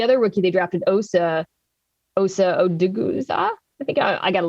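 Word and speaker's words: Odighizuwa: And so you could see him unlocking the other rookie they drafted, Osa Odiguzua. I think I got to learn his name. We're really good at pronouncing names on this podcast. Odigizua.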